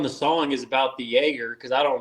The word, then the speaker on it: Jaeger: The only thing that I might have not been totally true on the song is about the Jaeger because I don't like Jaeger, Mm. but it rhymes with troublemaker.